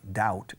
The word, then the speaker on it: doubt: Fijaos que la B, como he dicho muchas veces aquí, la B de duda, doubt, es muda.